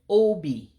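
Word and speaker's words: obi: But to make it say heart, you would say O-B. O-B, heart. Again, O-B is heart. So just two syllables. O-B is heart. So the O ascends.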